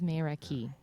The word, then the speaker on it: Meraki: Like, it's what it looks like, but it says Mayra Key. Like, she actually gave me the pronunciation. I didn't just make it up. Could be May Ray Kai. Maybe, but I don't think so.